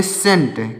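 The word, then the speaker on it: scent: सेंट क्या पढ़ेंगे दोस्तों इसको पढ़ेंगे सेंट यहां पर भी सी साइलेंट है तो यहां पर तीन शब्द लिखे गए हैं इसमें सी साइलेंट है तो आप इसको भी ध्यान में रखना है कि सी इसको नहीं पढ़ा जाता है इसको स्केन नहीं पढ़ेंगे इसको इसके स्केंट नहीं पढ़ेंगे इसको सेंट पढ़ेंगे यानी इसमें सी साइलेंट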